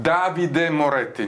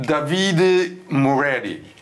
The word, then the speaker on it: Davide Moretti: Dear friends, we are talking about Davide Moretti, non Davide Moretti.